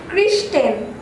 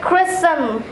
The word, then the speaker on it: christen: Christian. It'll be christen.